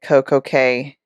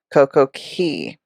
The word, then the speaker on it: CoCo Cay: it is perfect day at CoCo K that just kind of rolls off the tongue better and it's used interchangeably um but the correct if you want to get correct and politically correct it's key CoCo Key now let's not do